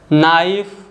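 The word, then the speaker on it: knife: जो लेटर के है अगर वर्ड के स्टार्टिंग में आ रहा है और एन के पहले आ रहा है तो के साइलेंट होता है, जैसे कि नॉलेज, नाइफ, नो, नी और नॉक।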